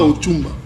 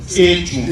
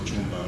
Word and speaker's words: Echumba: Ce n'est pas Ochumba. Echumba. Echumba. Parfois on prononce Ochumba. Voilà.